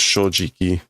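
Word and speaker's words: 正直: It's normally pronounced shojiki.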